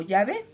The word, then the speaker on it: Yahvé: La gran mayoría de los eruditos, tanto cristianos como hebreos, cree que el nombre se pronuncia como Yahvé.